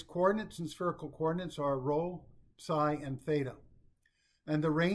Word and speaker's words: rho: The coordinate rho, it's pronounced rho in spherical coordinates, should not be confused with r in cylindrical coordinates, which is a distance from P to the z-axis.